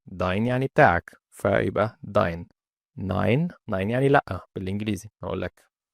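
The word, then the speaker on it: nein: ماين يعني بتاعي داين يعني بتاعك فيبقى داين 9ين يعني لا بالانجليزي اقول لك انت جاي النهارده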